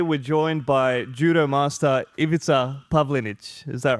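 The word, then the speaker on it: Ivica Pavlinić: And today we're joined by Judo Master Ivita Pavlinage. Is that right? Did I pronounce that right?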